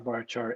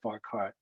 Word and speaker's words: varchar: call them car, ncar, varchar, nvarchar. I don't care what you call them as long as you know what I'm talking about. I just happen to pronounce them with a ch sound.